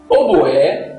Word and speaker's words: oboé: Embora a pronúncia atual de altibois se assemelha a oboá, até o século XVII a pronúncia era oboé.